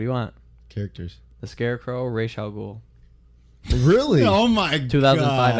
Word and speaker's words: Ra's al Ghul: You Might as say, well keep how'd you pronounce it? Raj Al Ghul. It's supposed to be, Oh, Ra's Ra's al Ghul.